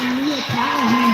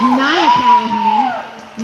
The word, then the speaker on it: Nia Callahan: Soul Crusher giving Soul Crusher some offensive blocking right there, helping Mia Callahan to get out. I was just corrected, it is Nia Callahan, not Mia.